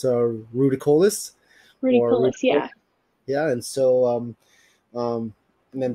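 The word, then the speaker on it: ruficollis: I believe it's, I'm pronouncing it right, it's a Ruticollis. Ruticollis, yeah.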